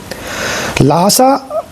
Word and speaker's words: Lhasa: लासा लिखा था लासा में आपका स्वागत है। लासा एक तिब्बती उच्चारण ला सा है जिसका अर्थ होता है ईश्वर का घर।